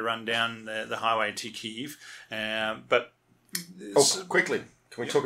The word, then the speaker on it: Kyiv: Now, the reason for that, and this will hopefully be helpful to listeners, is that Kiev is the Russian pronunciation. Oh, yeah. And Kyiv is the Ukrainian pronunciation.